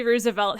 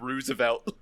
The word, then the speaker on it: Roosevelt: It's just that you said Roosevelt. Roosevelt? Oh, Roosevelt. Well, yeah. I mean, Teddy and Franklin both pronounced it differently, so...